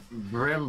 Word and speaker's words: BRM: seven people Al so why are you calling it brim that's not the name that's that's just spelling out the acronym we're pronouncing the acronym sorry and to anybody who